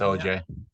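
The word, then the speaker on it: Ogea: OA is that how you say it I OG OG is that how you say it o OJ OJ it's OJ all right Chad give me a second that's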